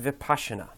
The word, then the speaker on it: Vipassana: It's pronounced Vipassana.